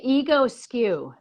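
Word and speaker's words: Egoscue: You could say ego skew.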